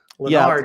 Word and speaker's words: Lennar: Lennar did not with Schmamar. It does rhyme with Shmar.